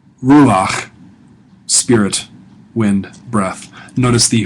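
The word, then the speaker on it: רוּחַ: Ruach. Ruach. Spirit. Wind. Breath. Notice the furtive patak there beneath the chet means it's pronounced before the chet.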